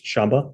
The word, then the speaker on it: shaba: So saha means endurance in the Japanese pronunciation is shaba the shaba world and so um the